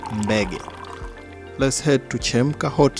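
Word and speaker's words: Mbege: Oh, that's my favorite, Beggy. That's how they call it. MB E G E. I don't know how you spell it, but it's called Beggy.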